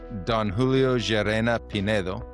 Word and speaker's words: Don Julio Jarena Pinedo: Don Julio Gerena Pedo.